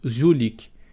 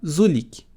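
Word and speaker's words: жулик: Quando eu era pequeno, pronunciava Zulik. Então, ele me parecia pequeno, forte e musculoso, e o som de Z era como o zumbido da mosca. Mais tarde, quando percebi como realmente se pronunciava a palavra, o sujeitinho que eu via cresceu.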